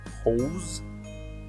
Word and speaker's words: hose: И также внешне похожее слово, которое часто читается как horse, но оно на самом деле читается как hose. Обратите внимание на z на конце, у horse s на конце, у hose z на конце.